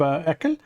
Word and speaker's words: ACL: we supports will uh configure web ACL or how it is typically pronounced configuring web eel setting up uh rules